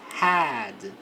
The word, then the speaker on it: had: E na pronúncia este a vai ficar com a boca mais aberta. É um som de é com a boca mais aberta. Porque se eu falar com a boca mais fechada, fica o mesmo som de cabeça.